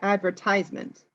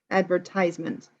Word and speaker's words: advertisement: new car hmm well we say advertisement so the strong is in ties advertisement and because it's such